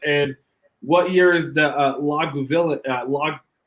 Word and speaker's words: Lagavulin: And what year is the Lagavulin? How do you say it? Lagavulin?